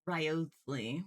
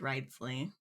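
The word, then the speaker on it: Wriothesley: I thought it was riotely but uh apparently it's ridesley the O is silent I guess I guess we also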